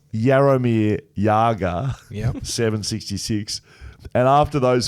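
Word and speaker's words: Jaromír Jágr: Jaromir Jagr, pronounced Jaromir Jagr, Yep.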